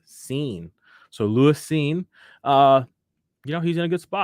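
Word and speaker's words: Cine: do you pronounce this it's c-i-n-e scene okay thank you pro football reference pronounced scene so Lewis scene uh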